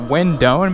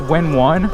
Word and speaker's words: Windone: Also, I think I was pronouncing it windon, but I'm pretty sure it's pronounced win one cuz they separate the win and the one on the colors. Like the colors on the box, the wind and the one are separated. So, I think that's how it's pronounced.